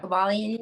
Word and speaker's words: Kybalion: Am I pronouncing it correctly? Mm-hmm. Okay. Kybalion, yeah.